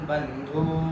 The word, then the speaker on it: बंधू: नववस्थिता सर्वा बंधू नथिता बंधू शब्दाचा धू दीर्घ आहे त्यामुळे तो लांबवायचा सर्वा बंधू नववस्थिता तान समीक्षसतेय सर्वा